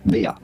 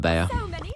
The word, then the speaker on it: Bea: French and Spanish his name is often said Bea okay that's enough we're going with Bea Bea has amazing skins like either Nico style